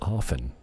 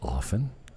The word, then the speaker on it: often: a silent tea it's often I don't say often I say often it's a silent tea and I still say